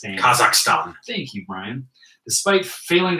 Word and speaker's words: Kazakhstan: Is that how you pronounce it? Kazakhstan. Kazakhstan.